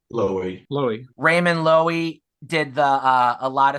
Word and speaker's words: Loewy: Raymond Levy. How do you say his last name? Raymond Levy. Loewy.